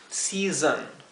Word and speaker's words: season: Season, season. Traten de buscar un sonido intermedio entre esas 2 vocales, la O y la E, y podremos pronunciar esta palabra correctamente.